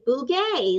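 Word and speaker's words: Bugaj: your last name and chris will say bougaie like a happy ghost which actually happens if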